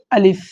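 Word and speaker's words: ألف: এটা হচ্ছে আলিফ। শব্দটা আলিফ টান নাই আলিফ অনেকে পড়ে থাকেন আলিফ এরকম না এটা হচ্ছে আলিফ আলিফ আলিফ এখানে বাংলা উচ্চারণ আরবিতে লেখা আছে এবার হামজা হামজা জবর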